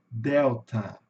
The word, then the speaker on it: Delta: Então, pessoal, toda vez que vocês virem esse símbolo aqui, pode saber que é o chuá, que nunca é um som do a aberto, entendeu? Ele é mais, ele sai pela metade. Eu digo que ele sai pela metade, né? Então vai ficar delta.